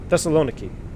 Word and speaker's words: Thessaloniki: VESA lone a key thessaloniki emphasis on the knee that's the thessaloniki that's a long iki honestly that's the hardest